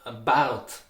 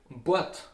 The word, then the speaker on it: Bart: So that's why from Bart, the A is taken, differently pronounced like O.